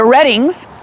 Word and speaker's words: Redding: and talk to the reddings it's spelled reading but it's the reddings here at jill's chicken